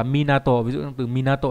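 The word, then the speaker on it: 港: Âm cương đọc là Minato, ví dụ trong từ Minato là bến cảng, Minatomachi là cảng đinh nghĩa là thành phố cảng.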